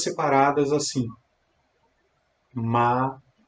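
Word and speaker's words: Maranatha: essa palavra silenciosamente em anteriormente é um quatro sílabas separadas assim a Maranata Maranata nada Me responde aí é a vegetação Como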